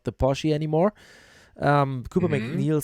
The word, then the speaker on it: Porsche: And in fifth, then the Puff Motorsports Porsche, not Porsche, Porsche.